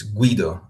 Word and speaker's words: Guido: The U is pronounced. It's Guido. But once again, if you say Guido. Guido, there's no problem. Absolutely no problem for me.